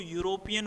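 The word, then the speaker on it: European: यानी कि स्पेलिंग भले ही ई से शुरू हो रही है लेकिन इसको यूरोपियन बोलेंगे।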